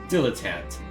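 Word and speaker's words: dilettante: me a sec diletant okay so that's how it's pronounced one who dabbles in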